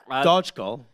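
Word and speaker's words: Dockal: Dodgkol. And that's the thing. We didn't know how to pronounce his name because Dokal, Dokal. Yeah, it's Dodgkol.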